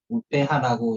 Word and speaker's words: UPH: 우페하라고 이제 인도네시아 발음이고요.